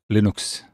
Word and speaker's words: Linux: and I made uh Linux and it is pronounced Linux it's a very short file of a couple